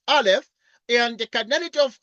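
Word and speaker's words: aleph: like this is a is a Hebrew letter pronounced Alf and the canity of R we denote by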